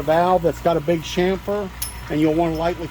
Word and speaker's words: chamfer: And that is chamfer, C-H-A-M-F-E-R, if you're interested in the spelling. Some people call it camphor, different things, but the correct pronunciation is chamfer.